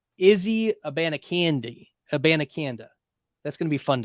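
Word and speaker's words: Abanikanda: Hubbard go at running back 54 and Israel a banakanda that's how you pronounce it it's not a a band of candy uh it's it's well it's not a bandiconda it's Israel a banacanda and I I figured it out by listening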